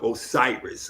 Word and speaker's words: Osiris: just I was first calling myself Osiris or Osiris because that was the Greek pronunciation for Asar or Yasir.